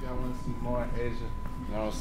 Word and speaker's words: Ajah: Asia got a pretty name. Yeah, Asia. It's spelled AJAH.